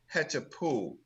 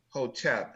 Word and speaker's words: Hetapu: And they also use the word, their greeting is Hetapu, right? And it's not Hotep.